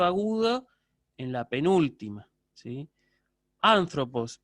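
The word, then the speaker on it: ἄνθρωπος: En este caso, anthropos es una proparoxítona con sílaba siguiente larga.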